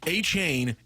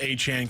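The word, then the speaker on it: Achane: for you yeah he was listed as Devon h a chain in the Dolphins media guys he has this big game after game he goes actually it's pronounced a Chan can we please go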